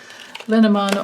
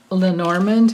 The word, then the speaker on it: Lenormand: and it's combination between the linimon or lenormand however you want to pronounce it or you call it